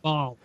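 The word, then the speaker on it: Baal: Is that Bell? Bale? Yeah. Bale? Yeah. Bale. Like B-A-L. It's pronounced Ball.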